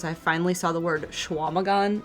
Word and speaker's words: Chequamegon: And that's pronounced Schwamagon. Schwamagon. Uh-huh. I would pronounce it Chicamagon. Because Chequa to me would be Chicamagon. Yeah, Radio Dread. How does QUA become WA?